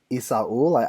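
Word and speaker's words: Esaul: I think it's Isaul. I've pronounced it wrong every time. I did it wrong, and I know that everyone pronounces it wrong, so every time I try to pronounce it, I'm like, I'm going to do it wrong. And I think that's the first time I've ever pronounced it correctly.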